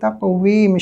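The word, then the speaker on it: تقويم: লাকদ খলাকনাল ইনসানা, সিনের মধ্যে একালিফ টান দিবা, ফি আহসানি তাকওয়িম শেষে দিয়ে মিম উচ্চারণ করো, এখানে নুন না, এখানে মিম হবে, ঠিক করে বলো।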